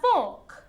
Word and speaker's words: fork: or a small folk a big make it longer otherwise it sounds like something else we have our fork